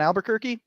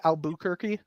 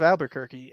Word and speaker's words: Albuquerque: after the Duke of Albuquerque and uh and like I'm pronouncing it the proper Spanish way like that's the actual Spanish way um but we misspell